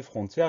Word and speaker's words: frontière: Donc la seule chose à laquelle on va devoir faire très attention, c'est à bien mettre cet accent grave sur l'avant-dernier E pour avoir le son E de frontière.